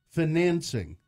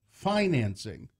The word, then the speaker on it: financing: shrivel when I hear financing like dancing instead of financing Oxford Dictionary has three